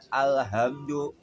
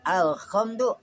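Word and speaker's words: الحمد: Jadi dibacanya alhamdu pakai ha. Ha di tengah tenggorokan disebut mauduil halqi yang ada letaknya di tengah tenggorokan. Kalau dibaca alhamdu adanya di bawah tenggorokan. Kalau dibaca alkhamdu k adanya di atas gitu ya.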